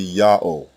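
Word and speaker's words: יהוה: The only consonant heard in God's name is the first letter Yah. The second letter Ha is silent. It assumes the sound of the previous vowel and closes the first syllable. The third letter, Wa, is the long O vowel.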